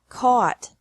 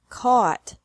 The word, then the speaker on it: caught: Caught. Caught. Fight. Fought. Fought. Seek. Sought. Sought. Teach. Taught. Taught. Think. Thought. Thought. Remember that the G is silent in these verbs.